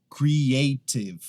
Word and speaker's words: creative: Com essa aqui, também não muda se for inglês americano ou britânico, é creative do mesmo jeito. O que acontece é que algumas pessoas acabam pronunciando ela como creative. Creative. Não. Creative. Creative.